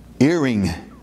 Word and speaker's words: earing: Earing. E-A-R-I-N-G is the correct way of pronouncing. Earing. Like an ear of corn or harvest.